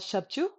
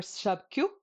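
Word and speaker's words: ཞབས་ཀྱུ: And this is called shabchu or shabkyu, depends on your dialect.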